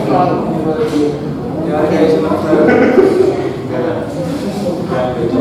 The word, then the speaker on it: Freud: Bacanya Freud.